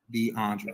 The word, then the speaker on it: DeAndre: question was for DeAndre my name is pronounced DeAndre okay okay I'm just making